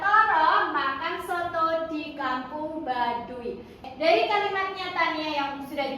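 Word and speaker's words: Baduy: Apa Bu itu bacanya? B A D U Y. Ba dun. Badui dong ya.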